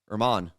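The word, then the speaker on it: Germán: That was Domingo German, or Herman. Herman. Yeah. But it's German. It's spelled German.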